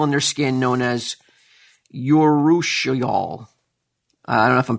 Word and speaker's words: urushiol: Mangoes contain an oil in their skin known as urushiol. I don't know if I'm pronouncing that correct.